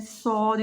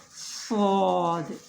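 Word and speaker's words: صاد: The inner plates of lower two incisors touch the tip of the tongue, then Sod is pronounced, but a little space is left, so make a whistle sound. Sod, Sod, like this.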